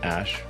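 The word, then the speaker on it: Æ: I mean, it's just X, the letter X, and then the AE is like pronounced Ash.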